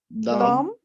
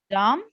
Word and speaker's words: dumb: How many silent B letters? 4. Let's count. Yeah, 4. Where are they? Where is the first? Bomb, climb, tomb. Bomb. Yes, the second. Bomb. The second one in Dumb.